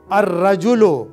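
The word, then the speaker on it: الرجل: हैं, जैसे रजुलुन था अर रजुलो। अब यहां आप ये भी देखिए, लाम यहां साइलेंट है, रा के ऊपर लाम नहीं पढ़ा जाएगा।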